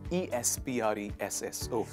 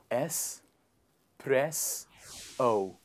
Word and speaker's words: espresso: on the list is e-s-p-r-e-s-s oh it is a type of a coffee um it's a coffee shot dark coffee shot very bitter in taste it is pronounced as s press o please repeat after me